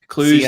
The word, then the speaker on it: Cluj: And then Cluj-Napoca, is that how you pronounce the Romanian city? Romanian town? Is it Cluj? Cluj, that's it. Yeah. Cluj.